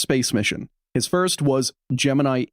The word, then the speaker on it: Gemini: It's just like they have decided as an institution to pronounce it wrong and like enshrine that. I'm not going to do that. Fuck that. It's Gemini.